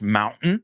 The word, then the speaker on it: mountain: Did you guys hear how she pronounced mountain? Chris, that was excellent. You got the glottal stop.